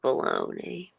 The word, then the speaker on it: bologna: no I think that um bologna is baloney but yeah fried baloney's you know grab some Oscar Meyer uh baloney and uh July and some sharp cheddar and uh bologna huh why is baloney spelled like bologna bologna I don't know